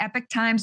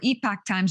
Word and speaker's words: Epoch Times: I've been reading the Epoch Times or Epoch Times.